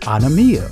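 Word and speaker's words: ἀνομία: The Greek word for iniquity is pronounced anomia, which means violation of the law, wickedness, transgression of the law.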